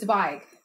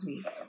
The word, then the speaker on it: Zweig: Anyway, so it's Zweig, not Zweig, as I've been saying it wrong.